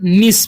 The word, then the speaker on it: niece: लिखा हुआ है NIECE, तो इसे हम क्या पढ़ते हैं, निस पढ़ते हैं। क्या पढ़ते हैं, निस। तो अब देखिए, अब एन के बाद क्या है, न है। एन का उच्चारण हो जाएगा न, आई का ई, तो नी।